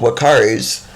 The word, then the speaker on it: Uakari: And even though they are called Wakaris, their name is spelled Uakari.